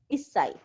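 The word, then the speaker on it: 一歳: We don't pronounce it ichi sai, we say is sai.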